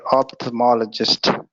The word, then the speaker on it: ophthalmologist: You don't pronounce the L there. Yeah. Okay, ophthalmologist.